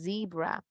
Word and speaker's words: zebra: Entonces, cebra, nosotros vamos a pronunciar zebra.